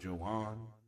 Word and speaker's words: Joan: It's spelled Joan like Joan, but he's Spanish, so I guess it's Joan.